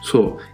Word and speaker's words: 小: también se ve sencillo su pronunciación es su y significa ser pequeño